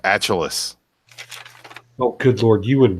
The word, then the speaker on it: Achilles: I believe that's pronounced Achilles. I'm sorry. I'll wait. Go ahead. What was that? It's pronounced Achilles.